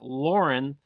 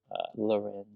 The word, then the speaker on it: Lauren: Ralph Lauren. I said it right. A lot of times people get uh super angry with me because I say it wrong. Loren, yeah, I get trolled a lot.